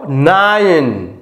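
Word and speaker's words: nine: তাহলে সরাসরি যদি আয়ের সাউন্ড আই হয় তাহলে এখানে দেখো নাইন, নাইন, তার মানে কি এই আই সমান আসছে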